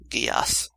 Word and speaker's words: Geass: Geass. Okay. Happy to correct pronunciation whenever I can.